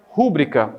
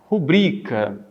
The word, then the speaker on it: rubrica: Então, como a palavra, sua escrita não tem acento gráfico, a pronúncia não é rúbrica, a pronúncia é rubrica. Rubrica. Então, deixe-me colocar minha rubrica, em vez de você dizer, deixe-me colocar minha rúbrica.